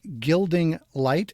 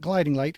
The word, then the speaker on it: Gilding Light: time society sateen phoenix's gilding light not gliding light gilding light i got it right